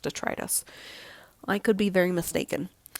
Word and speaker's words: detritus: I always thought it was detritus, and then I've heard it pronounced detritus.